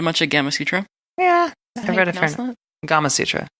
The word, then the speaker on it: Gamasutra: a gamma Sutra yeah Gamasutra Oh rhymes with Kama Sutra I thought it was